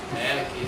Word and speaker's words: Melek: Moleque, é Moleque mesmo o sobrenome? Como é que se pronuncia? É Jorge, né? Melek, isso.